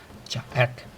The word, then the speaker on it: 隻: How do you pronounce this word? Jack, jack, jack, jack.